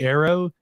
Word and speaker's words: AARO: They make the hyphenated D all just A so that it can be arrow. He's like, AARO, it's more pronounceable.